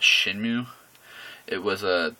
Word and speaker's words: Shenmue: I do believe it's pronounced Shenmue.